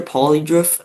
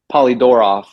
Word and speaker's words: Polydoroff: We have an interview with Fisher Polydorf. Is that how you say it, by the way? Polydorov, like Polydorf, my bad.